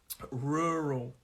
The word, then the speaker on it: rural: rural life rural life rural uh and the stress it's a two-syllable word this word and the stress is on that first syllable and it means the